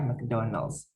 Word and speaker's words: McDonald's: Ini McDonald's tentu saja kita paham ya, McDonald's. Dibacanya biasanya McDonald's. Kalau ada A-nya jadi Mac gitu ya, mac and cheese gitu, macaroni and cheese gitu ya. Kalau McDonald, McKnight biasanya dibacanya Mac.